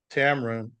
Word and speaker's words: TAMRON: the 11th grade, and Tamron, or how do you pronounce, is it Tamron, Tamron? My name is TAMRON. Tamron, okay. It rhymes with Cameron.